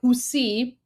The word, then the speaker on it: Houthi: Okay, just really quickly, this is he's talking about the Houthis. So Houthi is pronounced like Husi in Persian, which is why it doesn't get like the accurate translation in English, but he's referring to the Houthis.